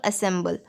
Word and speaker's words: ensemble: In the past, the Shehnai was part of the Naubat or traditional ensemble of nine instruments found at royal courts. तो अभी यहाँ ensembles देखते हैं, pronounced ensemble, okay, ensemble things.